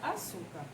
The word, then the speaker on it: açúcar: última a penúltima antepenúltima qual é a sílaba tônica da palavra suca um tour e ela é a penúltima sílaba mais forte da palavra então ela é considerada paroxítona certo já nas palavras proparoxítonas